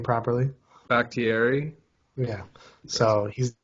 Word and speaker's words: Bakhtiari: Pronounce his name properly. Bakhtiari.